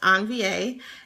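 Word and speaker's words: envie: of different words and on va is spelled e n v i e um it's french pronounced on va and it means it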